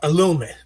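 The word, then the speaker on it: Ellume: here in valencia called illumi and i hope i'm pronouncing it what uh correct e-l-l-u-m-e and they've just been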